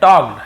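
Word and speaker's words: talked: एंड टॉक्ड फॉर a long time, टॉक्ड है ना, toll का नहीं पढ़ेंगे, टॉक्ड पढ़ेंगे क्योंकि एल साइलेंट होता है, तो टॉक्ड, टॉक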